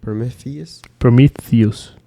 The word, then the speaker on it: Prometheus: Prometheus.